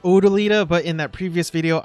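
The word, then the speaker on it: O'dyllita: that i've learned that the name is actually pronounced odolida but in that previous video i pronounce it autolida i mean it's an honest mistake but in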